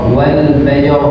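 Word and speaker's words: والفجر: ketika baca Quran diwaqaf Wal faajr Jadi bukan walfajr walfajr rnya hilang walaj walin as nah rnya hilang Wal Fajr walin jadi rnya harus terbaca walfaj ini ee diawali dengan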